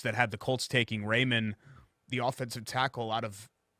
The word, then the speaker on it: Raimann: Anyway, a lot of the mock drafts had Raymond going 42 to the Colts. So for him to fall in. Raimann.